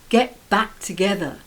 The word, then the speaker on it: get back together: from uni number 10 get back together and yes you guessed it the stress is on back the preposition it means to start